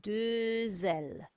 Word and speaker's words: deux ailes: So vowel there, sound the X, deux ailes, no vowel, deux cornes.